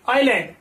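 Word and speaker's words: island: next word चले तो आई एस एल एन डी, आईलैंड, इसका प्रोनाउंसेशन क्या होगा, आईलैंड, आई लैंड, आईलैंड का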